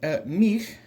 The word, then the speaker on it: mił: if you heard me, the end of that is that unvoiced kind of breathy L sound that we made with the letter hi at the last time. And the word mir is the first syllable